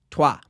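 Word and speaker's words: toi: If you guessed troy's, you should be correct, but you aren't because it's French and it's pronounced tua.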